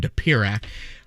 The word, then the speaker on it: Dopirak: think we should, Dopirak, I think the first syllable is what's given us a little bit of trouble here. I've known for about a decade. I've always gone with Dopirak.